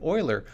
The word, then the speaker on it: Euler: it's called euler's method despite the pronunciation it has nothing to do with failing to appear in the nhl playoffs the method is actually named after the famous mathematician euler who studied this and